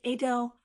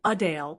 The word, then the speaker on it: Adele: It's more like Adele with a softer and slightly more British-sounding twist. So while most people say Adele, the local London version is Adele, and she loves when people get it right.